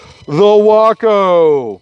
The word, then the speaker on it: Waco: going to be amazing the Waco pronounced like taco and yes there is